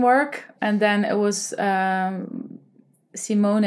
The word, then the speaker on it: Simone: So you pronounce it as how you would say my name, Simone. So not Smoon, as in the moon, but Simone style.